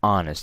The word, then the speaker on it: honest: So I don't say an horse, right? An honest. You see that sound?